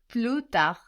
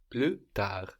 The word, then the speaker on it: plus: the S though good plut plut so again we don't pronounce that final consonant now we have plus